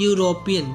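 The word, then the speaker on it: European: चीज लिख सकते हैं सेकंड रूल क्या कहता है जो शब्द वोलस से शुरू हो परंतु उनका उच्चारण यू में हो किसम हो यू से शुरू हो तो उनके साथ भी हम ए का प्रयोग करते हैं जैसे बोलो आप लोग यूरोपियन क्या बोलो यूरोपियन पहला वर्ड क्या है ई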